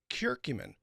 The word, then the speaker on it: curcumin: Pancreatitis, curcumin, that's spelled curcum i n. Now, kurcumin is very, very cool stuff.